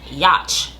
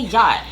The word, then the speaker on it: yacht: I also realized that I always pronounce yacht yatch I don't know why because the tea definitely comes after the CH so it's definitely yacht but very random side